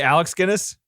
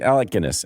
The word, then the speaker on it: Alec Guinness: look at that bridge you say Alex Guinness isn't it Alec Alec Guinness Alec Guinness sorry Guinness